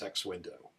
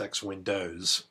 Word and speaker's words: X Window: Well, we do this through a layer software known as X window. By the way, it's it's very common for people to mispronounce it as X-winds plural, but the proper name of this is X-wind.